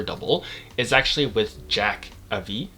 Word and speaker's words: Avis: is actually with Jack Avis. I think that's how you pronounce it, Avis, A-V-I-S, Avis, Avis. I'll just say Avis just for the sake of it.